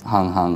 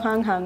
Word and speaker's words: Hang: They're pronounced hang hang in plural. Oh, hang hang, right.